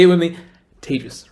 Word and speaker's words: Tejas: That's pronounced like contagious, or maybe in pandemic times, advantageous is probably better. Either way, Tejas. Say it with me. Tejas, right?